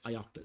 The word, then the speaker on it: ioctl: them as ictl gener pronounced as ictal stands for Io control if you have